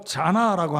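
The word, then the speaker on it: זונה: 네, 이 발음으로 자나라고 합니다. 자나, 창녀.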